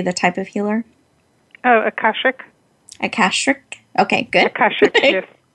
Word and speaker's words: Akashic: And in this, I'll need you to pronounce. Can you say the type of healer? Oh, Akashic.